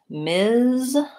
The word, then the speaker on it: Ms: the pronunciation of that so that has a voice to Z sound MS versus miss has the same first two sounds but the voiceless s sound and my clue there